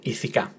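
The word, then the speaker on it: ηθικά: But on this one, it's on the last syllable, ithika.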